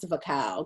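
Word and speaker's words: Wachau: and the vacal and knowing how to pronounce the cow because it's w-a-c-h-a-u i tell you my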